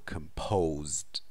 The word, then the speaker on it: composed: Composed of means made up of. Compose. Pay attention to the pronunciation there with stress on p, so composed.